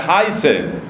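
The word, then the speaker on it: heiße: cómo nos llamamos utilizamos un verbo que se pronuncia hi ser entonces usted por ejemplo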